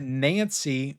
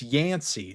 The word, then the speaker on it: Yancey: You got Wesley Snipes as the hero, and you got Nancy. No, it's Yancey. Sorry, guys. Is that how you pronounce that?